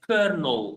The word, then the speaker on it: colonel: So we write this but we pronounce it as kernel like you can see here.